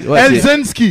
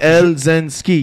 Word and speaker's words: Elzensky: C'est Elzensky. There you go. Le diminutif, c'est parce que le monde a tendance à fuck up le Elzensky. Mais il est simple. C'est 3 syllabes. Elzensky.